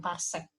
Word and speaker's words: parsek: Cuma ini untuk menggambarkan jarak-jarak yang jauh, parsek. PC itu parsek. Dibacanya parsek.